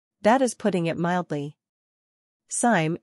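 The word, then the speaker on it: Sime: is putting it mildly Sim it rhymes with him not lime was born in Patterson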